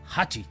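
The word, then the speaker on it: 八: el número ocho que en japonés se pronuncia Hachi por esta razón decidió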